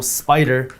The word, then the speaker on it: SPDR: By the way, just so you know, Spider is spelled SPDR.